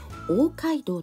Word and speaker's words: 大街道: はありません大きな町の道と書いて大街道と読むようなんですが